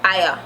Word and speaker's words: aya: In English, hire, and in Patwah, aya. Aya. We don't even pronounce the R.